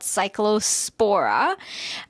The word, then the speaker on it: Cyclospora: And uh this is an it's an infection that happens in your intestines due to a parasite called Cyclospora.